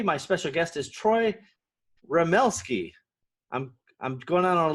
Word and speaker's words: Remelski: podcast and today my special guest is troy ramelsky i'm i'm going on a limb did i get the pronunciation right yeah you did pretty well yeah